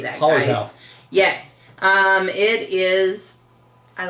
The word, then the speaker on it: Hallertau: Hallertau.